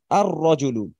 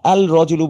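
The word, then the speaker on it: الرَّجُلُ: আলিফ লাম যুক্ত করছি এটা আমরা পড়ার সময় বলব কি আর রজুলু আর রজলু আমরা কিন্তু বলব না আল রজুলু বলবো না আমরা বলব আর রজলু তবুন স্টুডেন্ট এটা যখন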